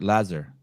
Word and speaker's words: Lazar: Lazar.